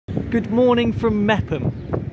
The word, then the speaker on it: Meopham: good morning from meam meam Silent o silent h when I was doing